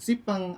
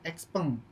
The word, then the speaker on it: Xpeng: Ada yang bilangnya sipeng atau siupeng gitu ya, Xeng atau peng. Nah, biasanya mereka nyebutnya masih random-random seperti itu ya. Tapi secara pelafalan kalau dari Chinanya sendiri kita sebutnya sebagai brand XP gitu Mas Geraldo.